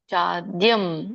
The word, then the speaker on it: ಚಾದ್ಯಂ: ಹೇಳಬಹುದು ಸ್ಥಾನಂ ಉಪಯತಿ ಛಾದ್ಯಂ ಚಾದ್ಯಂ ಅಂದ್ರೆ ಚ ಆದ್ಯಂ ಅಂತ ಕರೀತಾರೆ ಅಲ್ಲಿ ಅವಗ್ರಹ ಕಾಣ್ತಾ ಇದೆ ನಿಮಗೆ ಚ ಆದಮೇಲೆ ಅವಗ್ರಹದ ಉಚ್ಚಾರಣೆ ಯಾವಾಗಲೂ ಆ ರೂಪದಲ್ಲಿ ಬರುತ್ತೆ ಯಾಕಂದ್ರೆ ಹಿಂದಿನ ಪದ ಏನಿದೆ ಚಾ ಚಕ್ಕೆ ಅ ಕೂಡಿದೆ ಹಾಗಾಗಿ ಚಾದ್ಯಂ ಅಂತ ಹೇಳ್ತಾರೆ ಇದು ಹಾಗೆ ನೋಡಿದ್ರೆ ಅಲ್ಲಿ